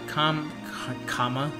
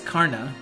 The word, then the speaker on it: Karna: We got Saber Lancer, we got Kama. Yeah, it's Karna.